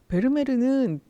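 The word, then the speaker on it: Vermeer: 잘 볼 수 있습니다 베르메르는 그 부르는 방식이 굉장히 다양한 거 같아요 베르메르 부르는게 가장 일반적이고 영어권에서는 베르미어고 부르기도 하고요 실제로 네덜란드 식으로 읽으면 페르메트린 일반적으로는 베르메르 요렇게라고 읽는다라고 말씀드리고요이 베르메르의 그림은 주로 여성을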